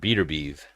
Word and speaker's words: Beterbiev: entertaining Shore Stevenson bovian I've never heard his name pronounced like that I've heard beater beeve never bovian so Parker vers mle